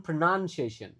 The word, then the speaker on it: pronunciation: Nah, ee lagi dibaca i on pronunciation per o-nya dibaca e lalu u-nya dibaca kayak a. Pronunciation.